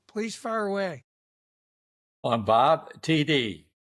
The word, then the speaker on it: Tiede: I'm Bob Tiede. Last name is pronounced like the two initials, TD or touchdown.